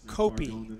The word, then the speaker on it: Copey: Their son is the defensive beast number 30 on the Eagles, and his name is pronounced Nico Copey. Nico Copey.